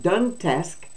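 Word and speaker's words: Donetsk: dentist regions now I don't know if I pronounced those right that Luhan is l-u-h-a-n-s-k Regions luhansk and that done task is d-o-n-e-t-s-k they put a lot of sk's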